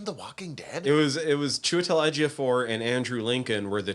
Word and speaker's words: Chiwetel Ejiofor: Oh, Chiwetel Ejiofor? Chiwetel Ejiofor.